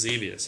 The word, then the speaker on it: Xevious: It's dangerous. It's devious. It's Xevious. Yeah, I didn't even say it right.